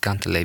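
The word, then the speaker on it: kantele: It's spelled K-A-N-T-E-L-E. But it's pronounced gantele because it's Finnish.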